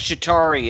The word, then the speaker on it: Chitauri: the fight at full shitari shitari spell it uh c h i t a R UI yeah it's chitauri it's uh the the